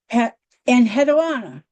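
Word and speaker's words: Enheduanna: Here's my first lady and hedana. I don't speak Sumerian, but that's approximately how it's pronounced.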